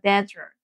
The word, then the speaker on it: desert: 사고요 그다음에 이제 desert죠 발음이랑 R 발음이랑 있기 때문에 즈 밀면서 진동 떨어 주셔야 되고 혀를 말아 주셔야 돼서 desert 하면은 사마이 되는